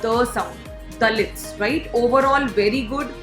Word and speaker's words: Dalits: उसके बाद जो आपने वर्ड यूज किया DALITS, इसकी जो प्रोनाउंसिएशन है that is दलित्स. इट is basically the sound. ये ड साउंड नहीं है जैसे हिंदी में आई एम राइटिंग, ताकि आपको डिफरेंस क्लियर हो. दिस इज नॉट ड sound, this is the sound, दलित्स, right?